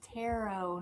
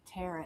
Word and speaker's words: tarot: Barb, it's tarot, not tarot. It doesn't rhyme. Tarot. It doesn't rhyme with carrot, Barb.